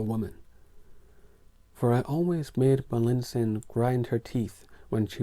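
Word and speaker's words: Malintzin: woman who called herself Melinsin. But even her consort Cortez invariably mispronounced that assumed name as Malinche.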